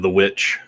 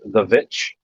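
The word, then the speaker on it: The VVitch: Goats made me think of The Witch. Yeah, is that the one that looks like it's spelled The Vitch?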